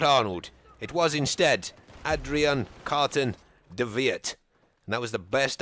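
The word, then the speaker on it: Adrian Carton de Wiart: And I'm going to refer to him as Carton in this video because the British have some problem with W's pronounced as V's, which I think is how you actually pronounce his name.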